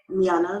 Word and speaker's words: Miana: Miana. Miana. Oh, that's pretty. Yeah, like Miana. Her lashes are crazy. Baby? I say it's like Miana. Oh, it's like Rihanna, but Miana.